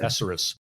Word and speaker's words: thesaurus: I pulled that one out of my thesaurus. Thesaurus. That's what I said. Apparently, thesaurus. You put the emphasis on the wrong syllable.